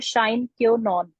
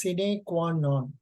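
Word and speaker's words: sine qua non: effective policy is a shine cure non this is true it should be pronounced as cine Quan known City this is true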